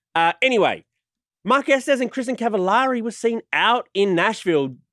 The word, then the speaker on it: Cavallari: There was a Cavallari. Cavallari. It rhymes with very.